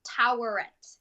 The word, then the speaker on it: Taweret: I do, but this is Toweret. Toweret. I know I'm pronouncing wrong, but you'll get what I'm saying. It's Toweret. Taweret.